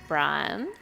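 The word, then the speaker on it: Briam: about, which is called Brian. Brian. We've covered this before. Yeah. It is spelt with an M at the end, right? An M at the end. Not an N. So it is not Brian.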